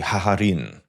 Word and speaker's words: Gagarin: That's when we learn that his friend and second in command Gagarin took over. Because the Ukrainians pronounce G's as hes, they actually say haharin.